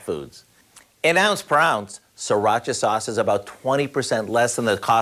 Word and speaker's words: sriracha: It's actually pronounced sriracha, but most of us just say sriracha.